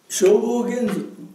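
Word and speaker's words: 正法眼蔵: 消防現像、消防現像と読む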